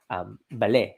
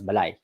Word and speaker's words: bale: Like Bale means house in Kapampangan. In Bataan, they still say it as Balay, which is the older pronunciation.